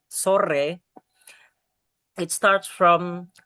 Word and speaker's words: sore: And for the don or sore, ya, it's kind of hard to say the thrilling R in Indonesia which R sore.